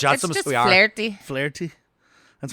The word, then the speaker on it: Flaherty: So these scientists show up, Professor Flaherty and Professor something else. Professor Flotsam, Professor Jotsam. Flotsam and It's Jotsam, just we are. flirty. Flaherty? That's right. You don't pronounce anything in No.